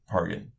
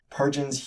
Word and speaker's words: Pargin: pronounced the same as the G in GIF.